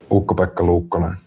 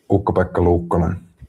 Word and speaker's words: Ukko-Pekka Luukkonen: And actually the cadence of it sounds like pick the back of pickled peppers when he says it in Finnish, quite honestly. But what a game it was for UPL. Ukko-Pekka Luukkonen, or I guess if